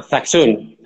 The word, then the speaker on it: Zaxun: Y otra cosa, antes de nada, se llama, pronunciándolo, ¿es el sello de Zasun o el sello de Zachun? Es una... Zaxun.